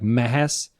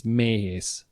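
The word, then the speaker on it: Méhes: So it's not, if we didn't have it, it sounds like Mehes. And because I have the dash or the commas on it, it's Mehes. So it changes the way you pronounce the letter.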